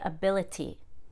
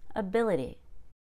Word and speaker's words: ability: ity endings in english the ity is pronounced idy a very fast d idi so don't say ability that's too much t it's just ability facility notice how the